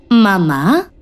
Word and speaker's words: mamá: ¿Y la palabra mamá? ¿Tendrá que llevar tilde en su sílaba tónica?